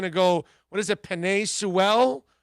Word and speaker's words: Penei Sewell: You bet your life Penei is going to go, what is it, Penei Sewell, I think is how it's pronounced.